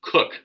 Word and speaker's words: Koch: My name is Justin Cook, but my last name is spelled Koch.